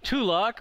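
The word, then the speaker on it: Tulok: Tulock rhymes with Trelock, which is why they catch the trowel.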